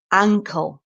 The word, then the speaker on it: ankle: bottom of the mouth and then Ang an the mouth is wide and big ankle which is your foot is attached to your ankle so again the first syllable is stressed but the sound at the beginning is an sounds like anle so think smaller in uncle uncle ancle wide ankle Uncle ankle sorry if